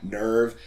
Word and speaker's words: NERV: There's that, the children weird translation, like the fact that everyone's got a different way of saying Nerve and Sele. That's how you say them.